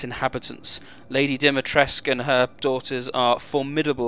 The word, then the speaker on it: Dimitrescu: Moving outside the village, there are a number of other locations to visit, including Castle Dimitrescu. Yes, that's how it's said throughout the game.